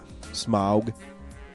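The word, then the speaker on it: Smaug: Uh, they're pronouncing it right. Are they? Yeah. Smog.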